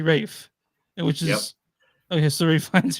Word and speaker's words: Ralph: ra yeah yeah I in England they don't say Ralph they say Rafe which is okay so